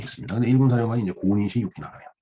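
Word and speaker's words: 小西行長: 근데 1군 사령관이 이제 고니시 유키나가네요. 예, 소서 행장입니다. 소, 작을 소자. 그걸 고라고 읽죠. 쇼라고도 뭐 읽을 것 같습니다.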